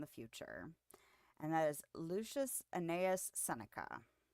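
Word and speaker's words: Lucius Annaeus Seneca: future and that is Lucius anaus senica pretty sure I pronounced that correctly looked up the pronunciation earlier I was like okay that seems straightforward but this is I was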